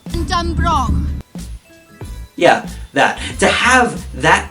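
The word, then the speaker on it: Dunbroch: How's it pronounced? Dunbrook.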